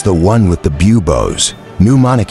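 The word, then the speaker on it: pneumonic: one with the bubos ponic he said pronounce ing the pee it went in your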